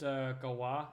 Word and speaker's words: Galois: So you can tell me that Galois is pronounced Galois, and I'm aware it's French.